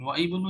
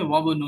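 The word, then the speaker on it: وابنُ: এই কারণে ওয়াবনু ইয়াসিরিন তাজিরুন, এখানে কিন্তু হামজাটা এই যে আই ইংলিশে উচ্চারণ হচ্ছে না, বাট লেখার মধ্যে আছে, আলিফ হয়ে আছে, এটা উচ্চারণ হবে না। ওয়াবনু ইয়াসিন, ওয়া ইবনু ইয়াসিরিন বললে এটা ইনকারেক্ট হবে, রং হবে। কি বলতে হবে? ওয়াবনু ইয়াসিরিন তাজিরুন।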